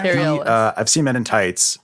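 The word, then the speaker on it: Cary Elwes: Carl Lewis, is that how you say his name? Carrie Ellis. Yeah, Carrie Ellis.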